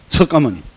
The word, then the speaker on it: 석가모니: 석가모니. 맞습니다. 석가모니. 석가모니가 지구에 왔습니다. 석가모니, 그 문이라고 쓰지만 모니라고 읽습니다. 그러면 이 진여의 세계에서 지구의 인간을 다스리기 위해서 지구에 왔다.